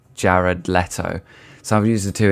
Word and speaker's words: Jared Leto: I've been pronouncing it Gerard Leto for my whole life, but apparently it's pronounced Jared Leto.